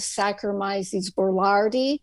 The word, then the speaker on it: Saccharomyces boulardii: I can't hear the pronunciation. Saccharomyces boulardii, Saccharomyces.